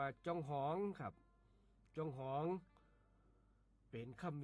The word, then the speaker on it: จองหอง: ว่า จอง หอง ครับ จอง หอง เขียน จ จ จาน อ่า งู ห หีบ อ่า งู รวม กัน แล้ว อ่าน ว่า จอง หอง ครับ จอง หอง เป็น